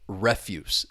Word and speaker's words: refuse: So, refuse to refuse. Once again, you see that twocllable verb, the stress is on the second syllable. You refuse something. I don't want it. We got to say no. Refuse is just another word that you could use to talk about uh garbage, trash, unwanted waste material. refuse. The stress is on that first syllable.